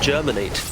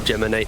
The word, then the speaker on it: Geminate: this laning phase to apologize for the previous game with the weaver pronouncing geminate germinate oh i didn't notice but yeah it's a nice little geminate not a nut yeah sorry everyone for my mispronunciation oh crystalis a lot